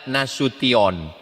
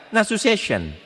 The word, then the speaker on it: Nasution: Cara membacanya Nasution. Ada pula pembawa acara yang baca nasu session.